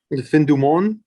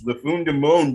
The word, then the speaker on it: Fin du Monde: The Fin du Monde. Thank you. It is that, and I was very afraid of pronouncing it because I was like Lafun de Monde it, and I was like, Du Monde.